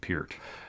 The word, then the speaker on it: Peart: right yeah so so are you on team Neil pert or Peart because I hear purists tell me that you really should pronounce it Peart well I've always said parrots so pert you're from Canada I won't